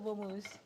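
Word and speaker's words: mousse: so M first so moose so moose is spelled m spells m o u s s e if you expain it in the French way but why Mo though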